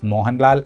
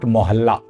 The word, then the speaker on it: Mohanlal: Manuni sound odd, and she would have pronounced Mohanlal as Mohanlal and not Mohalla.